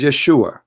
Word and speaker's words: Yeshua: pronounce the correct word the correct word in the Hebrew is Yeshua as simple as that so it's because it's